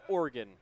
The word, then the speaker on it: Oregon: And it is still pronounced Oregon, Michael.